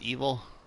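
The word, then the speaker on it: Ebil: of evil clown uh it's actually spelled e-b-i-l but it's pronounced evil evil clown he's got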